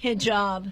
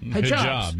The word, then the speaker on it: hijab: haib h j a BS how do you pronounce that hijab hijab my wife knows what are they those long